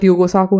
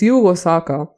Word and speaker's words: Yugo Sako: And this is what Yugo Sako had to Yugo Saka. Oh my god, I've been saying his name wrong for all the entire time. Oh god. It's Yugo Saka.